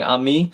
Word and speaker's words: ami: Lei and Rand and Poshi and James and underwater kunuk are saying amii which is how you say friend in span in sorry not Spanish uh French this is French for friend and uh bastile day